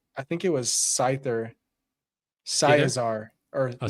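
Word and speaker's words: Scizor: Scizar or Scizar.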